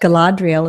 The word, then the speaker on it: Galadriel: little the community of the hobbits I liked Galadriel is that how you say her name yes